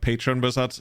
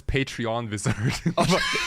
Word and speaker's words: Patron Wizard: we just figed out it's actually called Patron wizard because your chat couldn't agree how to pronounce it Oh I thought it's patreon wizard but I think this there's no e in there yeah this guy yeah